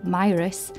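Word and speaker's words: Mire House: In Whitehaven, parts of the Meyer House estate, pronounced locally Meyerus, illustrate some of these social inequalities.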